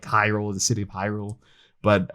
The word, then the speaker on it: Hyrule: or the town like hyrule the city of hyrule but um me and my brother will mistakenly pronounce it as like harold or like there's like